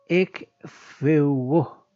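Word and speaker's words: ἐκφεύγω: La palabra griega usada traducida como traducida como escapar en este versículo es el verbo griego eugó pronunciado aproximadamente efeugo que aparece en la forma infinitiva.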